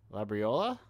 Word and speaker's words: Labriola: Forgot to ask, I guess, how to say their name, and I go, Labriola. You nailed it.